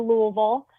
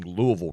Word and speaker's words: Louisville: I will be, tentatively, my plan is to go to Louisville.